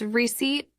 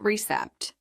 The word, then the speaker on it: receipt: vub Bell not V receipt has a silent P it's receipt not recept mispronouncing words can confuse